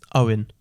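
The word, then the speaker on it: Eoghan: There's E-O-I-N or E-O-G-H-A-N. Now, how do you think that's pronounced? Owen. Yes, it is.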